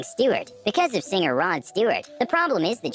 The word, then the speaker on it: Stewart: because of singer rod stewart the problem is that she didn't know how to pronounce stuart correctly store it store it store it